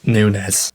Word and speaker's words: Nunes: we also had NS I do end up pronouncing his name wrong the entire time but it's actually pronounced Nunes so I'm I'm not